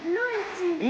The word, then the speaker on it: Luigi: Comment on prononce Luigi? Luigi.